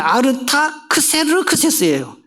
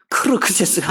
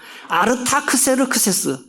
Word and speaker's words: 아르타크세르크세스: 발음 좀 잘해요. 이거, 이 인쇄도 잘못했네. 아르타크세르크세스예요. 크르크세스가 아니라. 아르타크세르크세스. 다시 써놓으세요. 아르타크세르크세스.